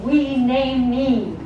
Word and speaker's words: Hueneme: it is today now there's always been conflict about how you pronounce seventeen and even back above it a letter to the others over the 1880s and the writers captivating the Ezzor saying you did not pronounce the name right it is supposed to be renamed me and it's not my